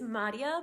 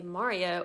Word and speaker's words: Madia: Anyway, hi, my name is Madia, but you can say Maria or hear Maria if you can't roll your R's, because most people can't.